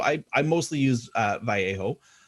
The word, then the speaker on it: Vallejo: i mostly use uh vallejo um that's how it's technically pronounced i guess but most people throw in the l which is fine because i usually do too but yeah so